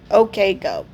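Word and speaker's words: OK Go: I doubt you pronounce use I'm pretty sure you spell that out. Okay Go.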